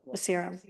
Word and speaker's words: Arciero: It's zero. Arciero.